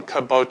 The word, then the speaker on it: kabocha: what we're going to be doing is cooking caboa squash now caboa is spelled c a b o c h a